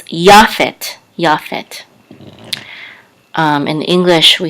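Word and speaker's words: יפת: accent is this line right here so it's Yaphet japhet in English we say Japheth now anciently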